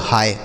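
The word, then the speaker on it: hi: तो इसे हम ही पढ़ेंगे। क्या हम इसे ही पढ़ेंगे? नहीं। इसे ही बिल्कुल नहीं पढ़ा जाता है। इसे पढ़ा जाता है दोस्तों हाय।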